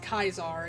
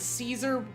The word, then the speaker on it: Caesar: But the actual the actual the name of the actual emperor uh is pronounced Kaisar. It's just I think it somewhere along the line people just decided Caesar was how it should be said even though it's not.